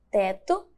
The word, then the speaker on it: teto: E a palavra teto é escrita com O. E possui o som de U.